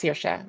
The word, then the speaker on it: Saoirse: I mean, the name itself is pronounced Saoirse, but I mean, it still comes down to variation.